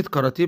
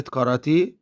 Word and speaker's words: كاراتيه: كلمة كاراتيه بتتكون من 3 مقاطع صوتية. المقطع الأول عبارة عن حرفين، حرف الكاف والألف، وبيتنطق قا، زي ما بقول كلمة قاهرة، بقول قا قا. المقطع الثاني عبارة عن حرفين، الراء والألف، وبنطقها را را، زي ما بقول كلمة رام الله، بقول را را.